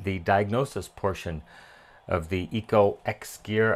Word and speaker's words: EcoXgear: diagnosis portion of the Eco X gear I I think it's just Eco gear is probably the way it's pronounced and this is the